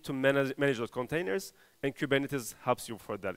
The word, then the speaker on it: Kubernetes: For the rest of you, Kubernetes, it's a Greek word that everyone mispronounces. The right way of saying Kubernetes in Greek is Kubernetes, but unfortunately everyone says Kubernetes, and including me now.